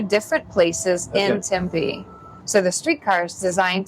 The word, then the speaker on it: Tempe: I notice you and everybody here says it Tempe. Out east where I'm from, we all say Tempe, but you're supposed to put the pronunciation. That's how we say it here.